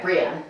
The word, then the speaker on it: Brienne: Also, is it Brienne and not like Brienne? Am I saying it right? You are saying it right, Brienne.